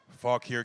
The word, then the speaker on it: Fauquier: Fauquier County?